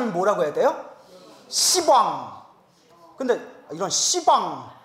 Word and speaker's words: 시방: 하면 어 이거 씨 듣는데이 그래서 이제 십자가는 발음을 어떻게 바꾼 거예요 시방 시왕 이렇게 바꾼 거 이제 알겠죠 십자에 그래서